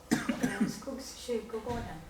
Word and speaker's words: Skogskyrkogården: Can you spell the, or can you pronounce? Skogskyrkogården.